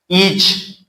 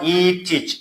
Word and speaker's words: each: Each, not teach.